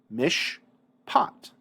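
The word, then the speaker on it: מִשְׁפָּט: Hirik is short, therefore the Sheva is silent. Since the Sheva is silent, the sound that immediately precedes the Begad Kafat letter is the sh of the shin, mish pat.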